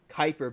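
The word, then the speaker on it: Kuiper: a interesting Theory thank you it's very possible Kyper belt okay thank you I never really knew how to pronounce that word all right well we'll see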